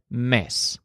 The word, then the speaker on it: mes: tracking time and his word for month is miss as an example a month ago would be